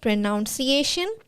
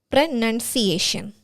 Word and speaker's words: pronunciation: It's not pronunciation, it's pronunciation. There is no O out there.